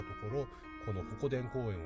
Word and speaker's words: 鉾田: 紹介するのはホコデン公園ホコ天と読みます作品の中で